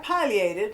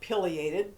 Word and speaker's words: pileated: that Polly ated and don't be confused if you're used to calling it pileated that's okay both pronunciations are correct but I call it pious because it's named for the pious on the top of his head the latin word for